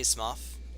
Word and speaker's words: Smough: oinstein's mom and yes I say Smough it it could very well be smoke we never hear the name pronounced but we do hear a Hawkeye goth and we actually see that the spelling o-u-g-h is the same in both names so that's why I